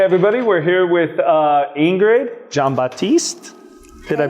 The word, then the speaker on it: Jean-Baptiste: Okay, hey everybody, we're here with Ingrid Jean-Baptiste. Did I pronounce that right?